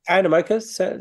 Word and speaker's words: Animoca: Is it Animoca Brands? Yep. Animoca sounds right.